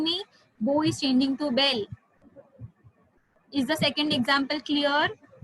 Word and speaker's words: bel: Yes, bell is pronounced like bell, only the spellings are different, Vijay.